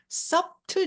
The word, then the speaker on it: subtle: 자, 여기서 B가 발음이 안 나요. 자, 이걸 묵음이라고 하는데요. subtle, no, subtle.